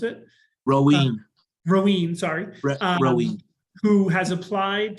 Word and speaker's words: Rowan: So there is a Dover resident, Brett Rowan, I believe is how you pronounce it. Roween, sorry.